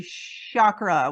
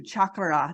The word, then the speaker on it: chakra: started learning about them I would say Shakra with a sh and now I'm as I learn more about resonant tuning and understanding our language and like you said the ah and those certain syllables that play a role in there I do I say it too chakra just like you do with that rolling of the r and so Terry what